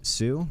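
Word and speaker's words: Sioux: I'm not even going to try to pronounce that. Dewacetan and it's Sue.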